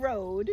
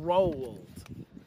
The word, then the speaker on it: Roald: You just said road so clearly. You're like Road. road. When you're telling me that's you're- wrong. There's an L. Roald. You're making a W sound. Roald. That's how you say that name.